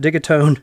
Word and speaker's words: Digitone: did it I said it right that time dig atone left and right as the audio source okay